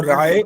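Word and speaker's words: राये: और जो राय बोला है वो आपने रा के बाद ए बोला है, य नहीं बोला, रा ये बोलना होता है।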